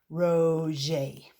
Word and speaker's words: Roget: This is about Peter Mark Roget, pronounced Roget.